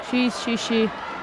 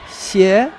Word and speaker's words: Xie: Violeta Dimitru of Romania and Shi of Yeah, China. That's a Is that how you difficult pronounce one. it? Xie, Yeah.